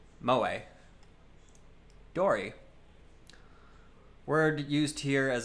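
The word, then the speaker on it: 萌え: Pronounced moe.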